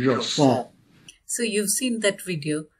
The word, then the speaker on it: JSON: I think probably the correct pronunciation is Jason.